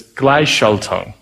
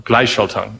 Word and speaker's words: Gleichschaltung: And it's, I'm really bad at pronouncing it, but it's Gleichschaltung, or Gleichschaltung.